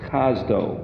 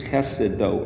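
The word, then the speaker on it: חסדו: Chesed with a vav at the end, make it, instead of saying chesedo, it's, they change the emphasis of the syllables, so it's chazdo, but it's, you can read it as chesedo, or his chesed.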